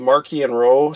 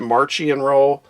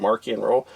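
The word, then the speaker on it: Marchion Ro: by the authors and they wanted it pronounced with a k so it's got more of a hard edged sound to it so i pronounce it marquee and row based on what they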